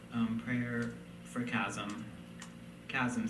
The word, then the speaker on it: Kazim: Kazim, C-H-A-S-M, is a common mispronunciation of my name.